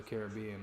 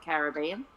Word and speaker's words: Caribbean: We put that we put the main emphasis on the at part of Caribbean and you put it on the it part.